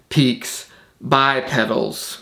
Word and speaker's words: Peaks X Pedals: Probably didn't need to explain that, but it's spelled Peaks X Pedals, but it's pronounced Peaks by Pedals because, you know, it's good marketing to make your name more complicated than it needs to be.